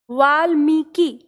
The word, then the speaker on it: वाल्मीकि: तो आपको ध्यान रखना है वाल यानी ल जो वाल नहीं है पूरा, वाल, ल जो है पूरा उच्चारण नहीं है क्योंकि आधा है, तो हो गया हमारा वाल्मीकि, वाल्मीकि।